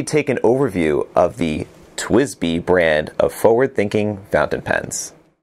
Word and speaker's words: TWSBI: under their own brand twizz B was born twist B is spelled TW s bi and is an acronym